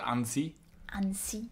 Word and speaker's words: Annecy: French would pronounce it Ani an to rhyme almost with fancy if you said fancy in a fancy accent is pretty fancy fancy